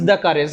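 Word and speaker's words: courage: Loose কারেজ বা সাহস হারানো।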